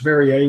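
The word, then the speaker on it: Vriez: i e z and it's pronounced varier which is like perier except that's got an r and I got a zed um the company's name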